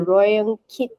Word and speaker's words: Rayong Kit: Okay, so it's pronounced Rayong Kit, but we've changed it to RK because no one can say Rayong Kit. I don't even think I pronounce it properly.